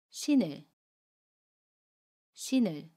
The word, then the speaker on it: 신을: 그러면 받침 니은이 다음에 오는 이응 자리로 가서 신을이라고 발음해요. 연음입니다. 신을, 신을.